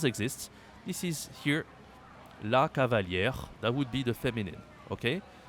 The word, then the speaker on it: cavalier: this is here La Cavalier that would be the okay that would be defin and that means something else in French so be careful we say cavali Okay cavali I want to explain something